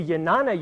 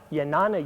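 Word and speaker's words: Jnana: leap up here to yanana yoga yes it begins with a J but it's actually pronounced more like a Y yanana Yoga and yanana is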